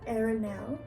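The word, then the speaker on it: Arian: It's very sweet and sensitive sounding, and it's not the same as Aaron because the way it's spelled and the way it's said, it's Arenal. And so super sweet name.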